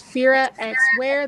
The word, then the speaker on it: Firaxwear: But if you want to find it by itself, it's Firaxwear. The X is silent.